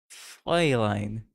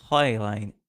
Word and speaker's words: Fräulein: Fräulein. Fräulein. Fräulein. It's in your throat.